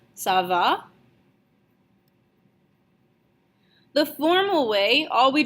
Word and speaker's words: ça va: ça va, and your voice needs to go up at the end of the question. Okay, this is in order to emphasize the fact that it is a question. Okay, so you should be pronouncing it something along the lines of ça va.